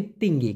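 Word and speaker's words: tinggi: দেখুন আমি কিন্তু টিঙ্গি বলি নাই, টিঙ্গি টিঙ্গি কিন্তু বলি নাই, বলেছি তিঙ্গি। কারণ মালয়েশিয়াতে টি ট এর মতো উচ্চারণ না হয়ে উচ্চারণ হবে ত এর মতো, এই জন্য টিঙ্গি না হয়ে এটা হবে তিঙ্গি, মানে হলো উঁচু।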